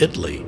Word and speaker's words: Italy: The town of Italy, spelled like the country Italy, but pronounced Italy here, and Honey Grove.